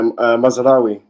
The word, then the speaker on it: Mazraoui: know you're Moroccan is it uh M yeah mazeri mazeri there you go man to be honest